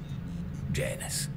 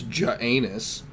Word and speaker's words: Janus: name I'm dead I'm name Janus like a roman god god that's exactly what